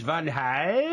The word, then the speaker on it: Van Gaal: However, in this country, it is Van Gaal. Bingo! Because that sounds really English.